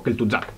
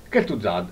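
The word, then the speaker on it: Kel'Thuzad: di kelt tu Zad che si pronuncia proprio kelt Zad tutto veloce e tutto attaccato kelt Zad leggendaria nuova ultima carta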